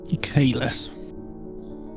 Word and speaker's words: Kaelis: a boy um so it is spelled k a e l i s Kus great purple runes so who might you be